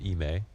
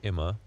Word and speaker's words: iM: Ime told us that you pronounce it Ime. Mm-hmm. And I think before he told you Ima.